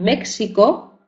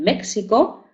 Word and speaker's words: México: por ejemplo en topónimos con México verdad que algunas personas dicen México y otras pronuncian la palabra México verdad aunque se escriba México porque se escribe México o o asaka y